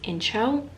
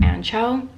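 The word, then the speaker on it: Anxo: multiple times i think it's incho it's a nxo is how it's spelled but i think it's incho or ancho it's a good spot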